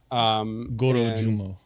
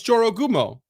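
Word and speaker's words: Jorōgumo: 13th age creature, the Jorogumo, which you covered. Gorojumo. One of those. Right syllables, wrong order. No, it's Jorogumo. It's with a J.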